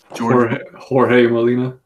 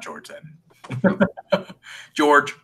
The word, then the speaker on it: Jorge Molina: own the artwork so don't know how to pronounce his name - Jorge Molina not Jordan George that was a nice